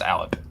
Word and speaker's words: Allip: It's pronounced Alep.